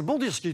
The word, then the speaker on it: Bandirski: Ah, c'est Bandirski, tout simplement.